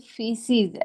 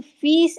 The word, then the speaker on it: fees: I always hear a word feces, and I thought it's not a correct word. It's a fees in English.